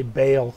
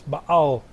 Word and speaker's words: Baal: So in America, you usually say Baal, but it's Baal. This, that's the way it's supposed to be pronounced.